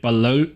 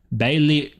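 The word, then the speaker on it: Balliol: Oh, so this is Balo Balo Balong. My pronunciation is terrible today. That's a Scottish name. People always try and correct me. Go. That's actually Ba Bailey.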